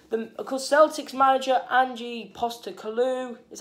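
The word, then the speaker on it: Ange Postecoglou: and of course the of course celtics manager angie poster kalu is how you say his name um he's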